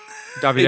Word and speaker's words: Davide: Davide. It's spelled the same, but please say it differently.